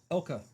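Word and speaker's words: Elke: Uh, Alex Summer, Sharon Tate, Nancy Kang, uh, Nigel Green, Tina Louise, Alex Summer. How are you pronouncing that? Uh, Elk Ela Summer. Elka.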